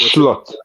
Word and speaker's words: Slot: fair enough it's not it's not actually pronounced slot by the way it's schlot schlot schlot schlot you